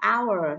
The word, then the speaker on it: hour: hồ này h cm Từ H không được phát âm nhé các bạn đọc là our thôi các bạn không được đọc là how nhé how là sai